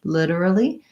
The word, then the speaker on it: literally: it I would say the main difference for literally is that the T sound is a flap we do a sound literally I do have a